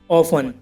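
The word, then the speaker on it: often: For example guys, ऑफन। अब इसमें word के लास्ट में टी ई एन है तो गाइस इसमें टी साइलेंट है।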